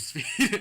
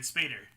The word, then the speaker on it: Spader: David Spade, no, not David Spade. Whoa! No, not David Spade. He played Ultron. David Spader. Yeah, I was close. You were close. You were close. I was close. A little extra syllable.